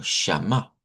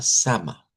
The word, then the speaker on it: Shama: En hebreo es con shm y se pronuncia como shama. Sham. en español, ¿verdad? Lo han adaptado como Jehová sama.